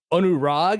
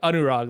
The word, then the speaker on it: Anurag: like you know like an Indian pronunciation in general for like words and names like that there are a lot of like A's that go ah so if you're ever